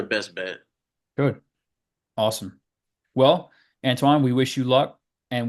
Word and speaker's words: Antwain: So you can contact me through LinkedIn under my name, Antwain. It's spelled Antwain. I is silent, but obviously.